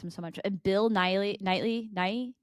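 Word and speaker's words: Keira Knightley: And Bill Knightley.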